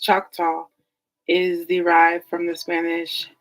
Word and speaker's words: Choctaw: It is theorized that the name Choctaw, pronounced Choctaw, is derived from the Spanish chateau for flat,